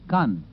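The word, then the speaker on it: Caen: 40 Mi Northwest of k k by the way is spelled c a n it is near e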